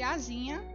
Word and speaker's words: asinha: Asinha tem um som de Z, não é? Mas se escreve com S, assim como a palavra primitiva.